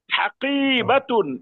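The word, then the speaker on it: حَقِيبَةٌ: কফের পরে টান হবে, বার পরে টান হবে না।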